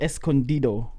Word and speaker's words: Escondido: But it is El Rancho Escondido, which is the hidden ranch. Escondido.